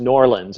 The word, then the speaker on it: New Orleans: Well, it's like New Orleans. It's pronounced Norlands if you're down there.